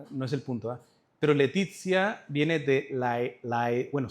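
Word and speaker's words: laetitia: Pero Letizia viene de la la, bueno, se pronuncia a e en latín e letizia que significa alegría.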